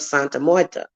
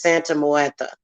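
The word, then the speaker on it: Santa Muerte: and he brings up santa moyeta a santa moyeta it's actually the way i pronounce it is santa moeta okay santa martha is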